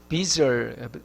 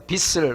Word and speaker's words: 빚을: 어떤 사람은 시옷으로 발음하는데 빚이 아니고 빚을, 지엽이시기 때문에 빚을 하면 안 되고 빚을 이렇게 발음해야 됩니다.